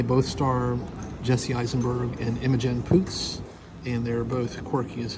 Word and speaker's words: Imogen Poots: They both star Jesse Eisenberg and Imogen Poots, and they're both quirky as hell.